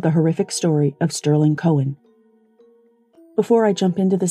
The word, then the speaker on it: Koehn: episode at the trial zachary's last name was overwhelmingly pronounced kane but because he pronounced it cohen in the 9-1-1 call and his father and brother both pronounced it cohen during their testimony i'll be using that pronunciation at the end of